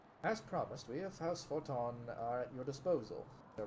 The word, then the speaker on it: Fortemps: I don't understand it myself, but it's spelled Fortemp, and yet it's sounding out Forton.